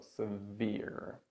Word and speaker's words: severe: Yeah, this word is stressed on the second syllable. severe.